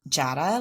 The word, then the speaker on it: Jada: You know who um I think you should definitely speak with her name is um Jada like Prada is how I remember is how she uh reminds you how to say her name.